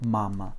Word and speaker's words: мама: Donc l'accent que je viens de mettre sur la première syllabe ma, c'est l'accent tonique du mot mama. Ça signifie que cette première syllabe est très accentuée, tandis que la deuxième se prononce presque comme m. C'est presque un e derrière.